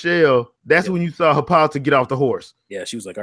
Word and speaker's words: Hippolyta: I thought maybe it would be an Hippolyta. Oh my God, I couldn't even say her name. Help me out. Hippolyta.